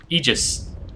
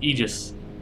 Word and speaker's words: Aegis: A famous one for me is Aegis. Right? Aegis. A-E-G-I-S. Shield, right? Aegis. It's pronounced Aegis. The A-E is like Caesar, right? Just Caesar.